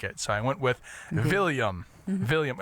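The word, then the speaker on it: Viljam: with a with a William yeah hey I love it and it's spelled with a J so so it's with the Scandinavian J and uh my wife's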